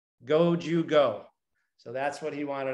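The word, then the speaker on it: 五十五: And the reason he asked for number 55 in Japan is that in Japanese, you pronounce the word 55, go, Jew, go.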